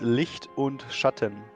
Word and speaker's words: Licht und Schatten: This is called Licht und Schatten. Say it again? Licht und Schatten.